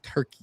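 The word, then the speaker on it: Türkiye: It's not Turkey anymore. It's Turkey.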